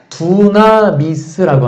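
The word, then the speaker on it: δύναμις: 헬라어로 뭐냐면 두나미스라고 합니다. 헬라어 원어가 그래요. 근데 이 두나미스에서 영어가 파생된 게 뭐냐면 다이나마이트예요. 좀 발음이 비슷하죠. 두나미스, 다이나마이트.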